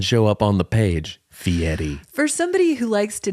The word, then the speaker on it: Fieri: wrong and I refuse I won't say F Yeti cuz there's not a tea in there baby it's like I'm going